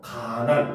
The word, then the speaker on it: 가난: 알겠습니까 근데 여기서 보면 니은 니은이 연단한 소리 나니까 하나가 탈락해서 가난 이렇게 되는 거예요 한자로 하면 간난